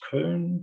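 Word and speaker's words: Köln: thoughts and suggestive improvements cologne is one of the biggest cities in germany it's pronounced kern here and has a population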